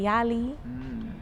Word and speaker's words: YLAI: have seen where you is it pronounced y-l-a-i yali yeah okay you are or